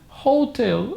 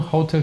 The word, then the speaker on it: hotel: one is this one most people say hotel I don't know maybe because of the song Hotel California probably who knows but the pronunciation is Hotel hotel whenever we are doing